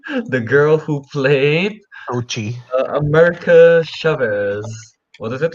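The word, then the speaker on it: Xochitl: The girl who played Tochi. America Chavez. What is it, Rick? Tochi. The TL is Sochi? silent. Yeah, the TL is silent. Yeah. Uh, yeah, Tochi I like her.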